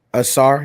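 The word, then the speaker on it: Ausar: Asar, yeah.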